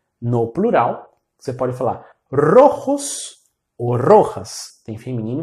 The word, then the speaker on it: rojo: E a pronúncia, quando o R começa uma palavra, a pronúncia é sempre vibrante, com R vibrante. Então você vai sempre falar assim: R, com a língua tocando os dentes superiores muito rapidamente. R ro rro. Rojo.